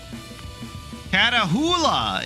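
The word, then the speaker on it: Catahoula: Katahula is how it's pronounced. It's a dog breed originated in South Louisiana.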